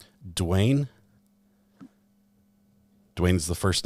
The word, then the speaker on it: Dwayne: How do you pronounce your first and last name? Dwayne.